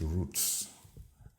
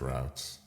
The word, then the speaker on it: routes: we can put route some people pronounce this Roots as a I pronounce it routes I think his routes is better gin do engine now